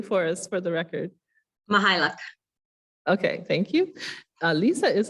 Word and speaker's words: Mychajluk: Lisa Mychajluk? No, not even close. Don't worry, nobody gets it right. So say it properly for us for the record. Mychajluk.